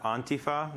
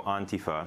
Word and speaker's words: antifa: yes well it's pronounced antifa the the emphasis is on the first uh syllable and it's pronounced more on than and so antifa it's commonly mispronounced but